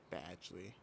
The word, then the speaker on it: Badgley: I think I say Badgley if I'm gonna let's look up the pronunciation. Badgley.